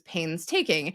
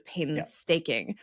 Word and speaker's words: painstaking: We talked on a previous episode of the podcast about the fact that you didn't realize it was painstaking. You thought it was painstaking.